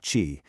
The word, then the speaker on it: qi: This energy is called qi, pronounced qi, and the idea is that it's this vital life force that flows through, well, everything.